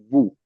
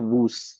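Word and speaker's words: vous: For example, uh v o us u s is pronounced as vu not woo. We say it vu. Now this s is silent over here.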